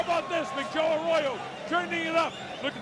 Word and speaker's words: Arroyo: How do you say that? Arroyo? Say it again. Arroyo. Arroyo. Sí. Okay, I like that. Not Arroyo. No. Arroyo.